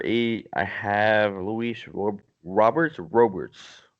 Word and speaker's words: Robert: I have Lewis or Roberts Roberts how would you pronounce that robear robear yeah like almost like Gobert yeah exactly Oh bear